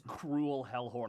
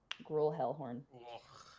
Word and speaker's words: Gruel Hellhorn: I thought his name was Cruel Hellhorn. I'm like, fuck this guy. Well, no, just gruel. You know, like grueling, torture, and punishment. Gruel. That's how you spell it. Gruel Hellhorn.